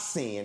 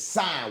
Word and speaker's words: sine: It's not sin. It's sine wave. Put a e on the end. How you how you saying that? Pronouncing that sine wave like gang sign for it.